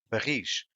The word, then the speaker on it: barris: Is, for example, barris, which means barrels, the stress is in ris.